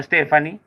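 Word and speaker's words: Stefonknee: Este hombre de 46 años de edad, Stefankne, pronunciado Stephanie, y proveniente de Canadá,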